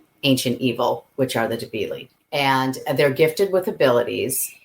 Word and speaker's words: Debili: of the Rock, the Debilis Rising. Did I get it right that time? The Debilis Rising, yep. Whether it's one Debili or multiple Debilis, it's like the word sheep. Debili, the S is silent.